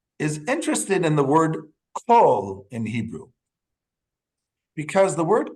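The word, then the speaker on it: כל: But even if there's a dot on the top, without the vav, it still can be pronounced kol. It would still be kol.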